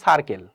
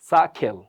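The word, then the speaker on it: circle: সা খেল, সা খেল। কারণ এই যে এখানে আর আছে, আর এর পর যদি কনসোনেন্ট সাউন্ড চলে আসে তাহলে আরটা সবসময় মিসিং হয়, আর উচ্চারণটা হয় না।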